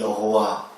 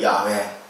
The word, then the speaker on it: 여호와: 이게 히브리어로 앞자의 단어만 가지고 만든 이름이 여호와, 또 다른 발음으로 읽으면 야훼, 이렇게 읽어지는 겁니다.